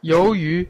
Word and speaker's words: 鱿鱼: 鱿鱼. Let's listen how natives pronounce it. 鱿鱼.